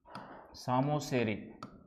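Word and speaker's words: psammosere: P silent होगा शायद सामोसेरी। ठीक है? यह है ऑन सैंड। ऑन सैंड बालू पर होता है। बालू पर या रेतीली भूमि पर पी है पी पी एस ए P silent रहेगा सामोसेरी होगा ठीक है इस टाइप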